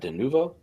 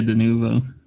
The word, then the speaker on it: Denuvo: That's uh how you pronounce that? Denuvo. Yeah, Denuvo. Reminds me of Lenovo.